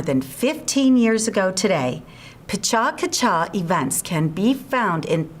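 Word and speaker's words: PechaKucha: I spoke earlier of Pacha-Kacha. That's spelled P-E-C-H-A-K-U-C-H-A, which means chit-chat, Japanese style.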